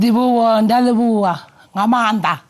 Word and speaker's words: Ndivhuwo Nemakhavhani: And Ndivhuwo Ngamanda. Am I saying it right? You said it right, Celeste.